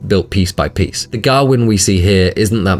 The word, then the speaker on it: Gawain: One place they do stick to authentic though is Gawain's name, which is rightfully pronounced with the harder vowel sounds of olde English as Garwin.